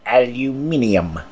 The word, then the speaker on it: aluminium: the Historic Aluminum Association, or as the Brits say, aluminium.